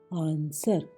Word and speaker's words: answer: ANSWER आंसर, आंसर बिल्कुल गायब, उत्तर।